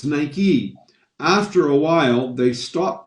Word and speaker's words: Nike: us in north america we would have called it nike because because it looks like like right or mike but it's nike after a while they